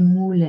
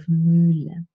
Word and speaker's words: Mühle: let's say you say Mule instead of Mühle, then I can say, no, it's not Mule as in Hut, but it's Mühle as in, well, in